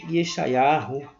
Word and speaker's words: Yeshayahu: Você vai abrir, por gentileza, em Yeshayahu, como alguns pronunciam, hebraico moderno, Isaías capítulo 34, versículo 14.